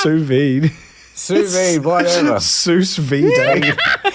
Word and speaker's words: sous vide: How's it pronounced? Sous vide.